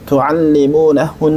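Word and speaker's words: تُعَلِّمُونَهُنَّ: Mukallibina tu'allimunahun, mukallibina, kayaknya ditampakkan hamasnya. Mukallibina tu'allimunahun, tu'allimunahun.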